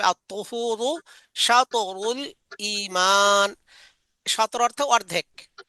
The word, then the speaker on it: الطهور: ত দিয়ে আত-তুহুরু, ত মোটা করে উচ্চারণ করতে হবে, আত-তুহুরু শাতরুল ঈমান।